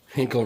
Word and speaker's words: Hinkle: Hinkle rhymes with Finkel.